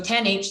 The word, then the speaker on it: tanh: to train and learn its best parameters so 10h yep mathematically quite similar to the sigmoid function